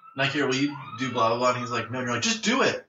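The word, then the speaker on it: Nykeair: His name is Nike Air. What? Like the fucking shoe. No. Nike Air. What? It's spelled N-Y-K-E-A-I-R.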